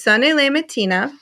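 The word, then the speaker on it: Sonnez les matines: Okay, it's Sonne le Mattina, and it's spelled SONNEZLESMATINES.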